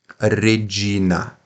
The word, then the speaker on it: Regina: Regina. Não é regi, como se fosse um J, não, é G. Regina.